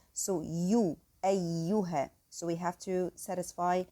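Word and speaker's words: أيها: And here take care that the next ya after the hamza is the light letter. So you, ayyuha.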